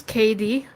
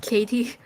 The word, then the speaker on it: KD: hello yep hi so my name is KD not Katie although it does sound like it I otherwise known